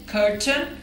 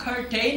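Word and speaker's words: curtain: इसे प्रोनाउंस करेंगे कंटेन कर्टन अब ये कर्टन को आप कर्टेन नहीं कहेंगे बल्कि इसे आप कर्टन कहेंगे लैंग्वेज में रूल्स बनते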